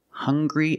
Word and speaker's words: hungry: have these two words hungry and hunger they also make the same sound with the nasal sound and the hard G hunger hungry remember the